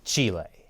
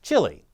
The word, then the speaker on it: Chile: length of South America's western coast yes it's pronounced Chile and not Chile which coincidentally is also something young Chris Chappell